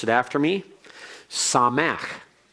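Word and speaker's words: שָׂמַח: today and let's go through this and please pronounce it after me saw Mack saw Mack means he was glad he rejoiced he was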